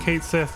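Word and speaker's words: Cait Sith: month or two and said that it's going to be pronounced Kate Sith and not k shei or something else and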